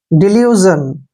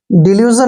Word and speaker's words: delusion: जब भी SION इकट्ठा आता है तो हमने अक्सर वहां पर इसको जन पढ़ना है। डिल्यूजन, डिल्यूजन होता है भ्रम, किसी